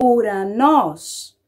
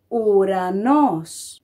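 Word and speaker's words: ουρανός: Então, toda vez que essas duas letras estiverem juntas, ela se pronuncia U. Como, por exemplo, na palavra Uranos. Uranos.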